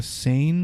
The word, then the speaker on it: Seine: overlooking tourist boats passing, I'm going to probably pronounce it wrong, the Seine River, S-E-I-N-E, Seine River, has caused particular indignations.